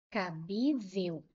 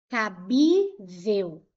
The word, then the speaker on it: cabível: Agora, se eu colocar aqui, ó, eh, cabível, cabível. Vou separar em sílabas. Cabível. Qual é a sílaba mais forte? O bi. Cabível.